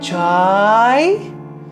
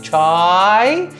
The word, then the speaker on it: Chye: In fact, Swami used to, whenever Swami would see him, Swami would say, Chai, with so much of joy, you know, C-H-A-A-O-O-I. I mean, that was how Swami would pronounce his name, Chai.